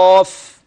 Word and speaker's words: قاف: ان القاف مفخمه وفي اعلى مراتبها، فالالف الذي بعد القاف في النطق تابع للقاف، والقاف مفتوح، فدي مرتبه عاليه من مراتب التفخيم. ثم بعدها الف المرتبه القصوى. يعني ايه؟ يعني المفتوح وبعده الف اعلى مراتب التفخيم. يبقى كده قاف.